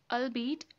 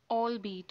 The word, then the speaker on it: albeit: This is not albeit, this is albeit, okay?